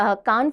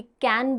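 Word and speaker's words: Cannes: India की जो एक शॉर्ट फिल्म थी जो कान फेस्टिवल के अंदर नॉमिनेट हुई थी, कैन बोलिए या कान बोलिए, अलग अलग प्रोनाउंसिएशन है, कान्स भी बोलते हैं, कैन भी बोलते हैं।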